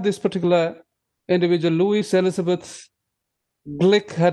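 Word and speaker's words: Glück: um you have this particular individual louis elizabeth glick her name is the last name g l u c k is pronounced glitch and not gluck or glue she is blick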